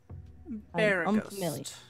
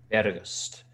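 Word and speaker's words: Beregost: Barragost. B-E-R-E-G-O-S-T. Sorry. We're seeing spell that again. B-E-R-E-G-O-S-T. Barragost.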